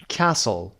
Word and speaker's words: castle: کاسل تی رو تلفظ نمی کنیم، دقت داشته باشید.